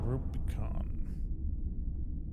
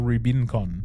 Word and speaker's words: Rubicon: Rubicon or Ruben Con? Rubicon. It's spelled the same with an N.